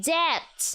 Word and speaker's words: debt: The B is silent in debt.